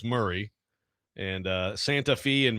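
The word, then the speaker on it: Maury: Uh Murray County, too. Mori is Murray.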